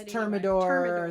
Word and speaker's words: Thermador: to ask my wife, 1099 or something like Thermador. I never can say it right. It's Thermador.